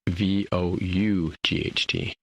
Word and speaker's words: Vought: Vought is not spelled like Voight as in John Voight. Is Vought. So, yeah, that one.